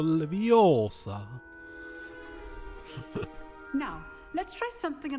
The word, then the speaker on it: Leviosa: Levioso! Nie, Rone. Vyslovuješ to špatne. Je to Leviosa.